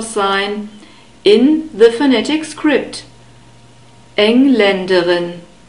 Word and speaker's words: Engländerin: in the phonetic script, Engländerin. We have a second A sound after the L and an unstressed E sound and a short E sound at the end, Engländerin.